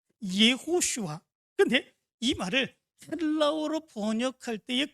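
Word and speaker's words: יהושע: 있 입니다 그것은 어이 여호수아의 히브리식 발음이 예호슈아 하는 말입니다 예호슈아 근데이 말을 헬라어로 번역할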